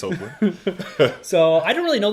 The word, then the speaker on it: Hoechlin: I think we landed on Tyler Hoechlin? Hoechlin or Hoechlin? Hoechlin, that's what we landed on. Hoechlin. Hopefully it's Hoechlin.